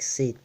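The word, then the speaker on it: C_Two: Mais non, faut croire que ça s'écrit C et bah tout, bah, comme 2 en anglais.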